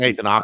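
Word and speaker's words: Aké: I know the only person that's injured for them is Ake. Is that how you say his name? Yeah, Nathan Ake.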